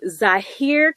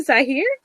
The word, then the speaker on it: Zhahir: I tend to say just Zahir as in the country, but even then it kind of causes problems and stuff.